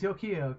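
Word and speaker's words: Yukio: you say it yeah yeah I remember it's yokio because I kept calling her yogioh Yu-Gi-Oh or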